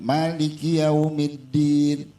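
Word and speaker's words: مَالِكِ يَوْمِ الدِّينِ: Maliki yaumiddin. Yang sering kita lupain di dalam ayat ini itu tasdid di atas dal.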